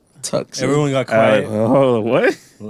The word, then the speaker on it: Tucson: She brought up Tucson. They're like, "Oh, are we passing Tucson?" Tucson.